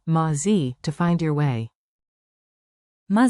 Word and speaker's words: מה זה: Keep it simple, 2 short words with a comfy rhythm. Tip 1. Open, ma, like ma, in mama. מה? Tip 2. Z, sounds like zay, quick and light.